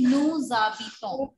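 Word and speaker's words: nous habitons: See, beta, the rule is that H is treated as a vowel, right?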